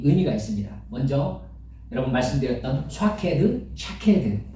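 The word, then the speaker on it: שקד: 근데 그것과 아주 비슷한 발음이 샤케드라는 말이 무슨 말이냐면 지키다라는 뜻이에요.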